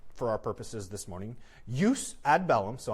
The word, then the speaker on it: jus ad bellum: Jus ad bellum, so I'm going with the Latin pronunciation. It's a soft J. Jus ad bellum, uh jus in bello, and jus post bellum.